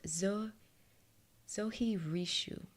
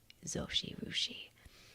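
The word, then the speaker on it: Zojirushi: is this brand called zo zohi rishu wait I'm mispronouncing that it's um a Japanese brand it's zo XI rushi zosi rushi there we go zosi rushi it's a stainless steel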